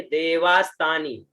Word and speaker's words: देवास्तानी: जंता, उसके बाद में देवास्तानी, देवा आधा स ता और नी, है ना, देवास्तानी, है ना, जगनेन जज्ञामाया जंता देवास्तानी, है ना, देवा आधा स ता और नी, उच्चारण देवास्तानी। अब स्वर देखे तो ज